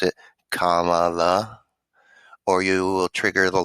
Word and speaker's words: Kamala: and it was kamala harris make sure you pronounce it kamala or you will trigger the left kamala harris